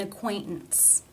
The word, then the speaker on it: acquaintance: The first T, it's followed by the schwa and N sounds. Therefore, it is a stop. An acquaintance, an acquaintance, an acquaintance.